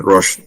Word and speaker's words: Roche: We do have a 10-year strategy that we've developed in Roche Diagnostic.